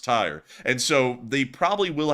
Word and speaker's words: Tyre: actually found out that this is not tier this is actually pronounced tire and so they probably